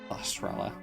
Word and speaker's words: Sahasrara: Every version of the randomizer, there's like over 100 names, I think, of Sahasrara being mispronounced. Sahasrara.